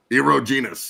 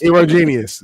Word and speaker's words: erogenous: Eerogenous. Eerogenous zones. Don't Don't pronounce a G. Just pronounce the G as a J.